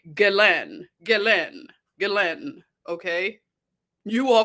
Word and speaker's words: Ghislaine: They say Ghislaine.